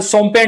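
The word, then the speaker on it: Shompen: उसके बाद सोमपेन ट्राइब है। एस एच ओ एम पी एन एस सोमपेन tribe है।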